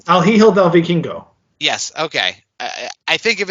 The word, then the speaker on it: El Hijo del Vikingo: El Hijo del Viking. You know how to say that name, right? I say it wrong. Yeah, El Hijo del Vikingo.